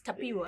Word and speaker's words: Tapiwa: So it's pronounced Tapua. Yeah, Tapua. Oh, yeah, okay. Yeah, Tapua. But then here in Malawi, it's Tapiwa. Yeah, no, or even in South Africa. In South Africa. Yeah, it's in South Africa. In Zimbabwe, it's pronounced Tapiwa, some. But now the real deep one is Tapua.